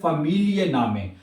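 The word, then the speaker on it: Familienname: कहेंगे we east year फैमिली नामे, आपका फैमिली नाम क्या है, ठीक है। बाज ना ये सही लफ्ज नहीं प्रोनाउंस करते, इसको आप दो हिस्सों में पढ़ेंगे।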